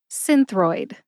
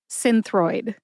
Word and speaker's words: Synthroid: I say it again Synthroid Synthroid see I think the emphasis is on sin my source for the